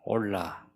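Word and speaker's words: עֹלָה: 이게 희한하게 우리 한글하고 히브리어하고 발음이 비슷해요. 올라.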